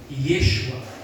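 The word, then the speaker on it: ישוע: também do nome Jesus os dois nomes têm a mesma pronúncia no hebraico Yeshua e assim como Josué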